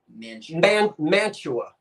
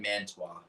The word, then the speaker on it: Mantua: It is pronounced Mantua. But I had a glitch that one day, and I said Mantua.